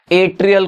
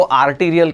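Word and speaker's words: atrial: एट्रियल को आर्टीरियल कहते हैं काफी सारे स्टूडेंट्स गलती से, एक लूजली वो पढ़ते हैं वर्ड को और वैसे ही प्रोनाउंस कर देते हैं।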